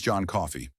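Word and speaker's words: John Coffey: My name's John Coffee. Like the drink only not spelled the same.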